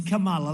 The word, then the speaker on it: Kamala: pronounce her name right it's kamala like a comma call mala and yet she pronounces